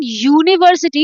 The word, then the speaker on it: university: So here u is not sounding sounding the way it is supposed to be like in umbrella. So in umbrella u is sounds like a vowel but in university it sounds like u the consonant u.